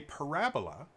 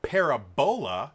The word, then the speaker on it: parabola: For those of you that don't know, part of a parabola, or parabola, if you want to pronounce it incorrectly, is a thing called a focus.